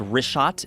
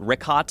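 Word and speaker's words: Richat: couple uh I just want to say it's rot I used to call it rick hot I was mispronouncing it but let me ask you this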